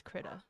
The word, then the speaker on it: Krita: I'm looking up how to pronounce it. There's a bunch of Krita. It's Krita.